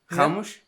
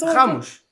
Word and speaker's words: Ramos: the R is it's a G in Portuguese. Oh. okay. But you look at the quality. But yeah, I think Ramos.